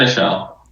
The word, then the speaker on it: Senechal: say your last name is that Michelle it's French yeah all right so